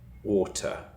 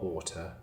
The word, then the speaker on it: water: So I pronounce my T's. So I say bottle and I say water. Bottle. Water. That's how I say it. A bottle of water. That's my accent. I've got a northern Cheshure accent and I pronounce my T's. But there are accents in the UK where they don't pronounce their T's.